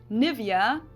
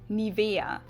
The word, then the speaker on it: Nivea: pronunciation pretty funny here English native speakers usually say Nivea Nivea in German we say Nivea Nivea so the emphasis is on the E Mi via but yeah